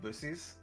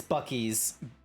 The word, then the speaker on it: Buc-ee's: You sure it's not pronounced Bussies? It's Buc-ee's.